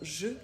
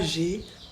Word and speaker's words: je: Donc le pronom je, c'est pour parler de soi-même. On le prononce je avec le son e, pas j'ai, pas j'ai, vraiment je.